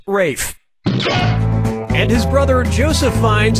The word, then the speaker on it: Ralph: attention yep ray fine's first name is spelled like ralph but pronounced rafe and his brother joseph